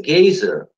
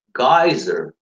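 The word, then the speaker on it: geyser: Это читается гейзер, гайзер и гизер. И все три варианта считаются правильными.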